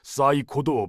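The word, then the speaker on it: psycho: 사이코도 P를 발음 안 하잖아요.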